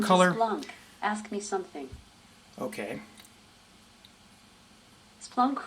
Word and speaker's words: Splunk: ask me something okay Splunk rhymes with drunk that is fantastic I